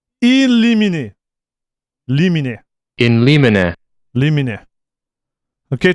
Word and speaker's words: Limine: The way you should pronounce it from the Latin. In limine.